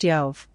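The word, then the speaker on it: Ἰώβ: the Book of Job which is a transliteration of Iota Omega beta pronounced yov clearly Massachusetts is European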